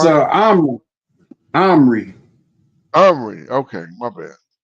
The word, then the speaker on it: Omri: Omri. Omri. Omri. Okay, my bad. So I'm pronouncing it wrong. I was thinking it was Omir, but Omri.